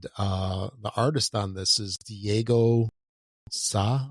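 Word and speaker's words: Diego Sá: And the artist on this is Diego Sa. I think that's how you say it. That's S-A, with a little symbol over it.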